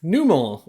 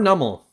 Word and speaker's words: Numel: Okay, Numel, or Nummel, however you pronounce it, I say Numel.